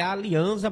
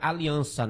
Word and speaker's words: Alianza: É Alianza, mas a gente pronuncia Aliança, né?